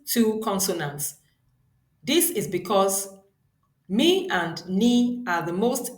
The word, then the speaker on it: mi: Then we move on to the second mi, which is the middle tone. It is pronounced as re, re.